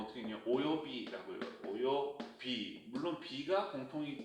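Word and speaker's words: 及び: 오요비라고 읽어요. 오요비. 물론 비가 공통이기 때문에 요 한자 오요라고 읽어서 오요비 이렇게 해야겠죠.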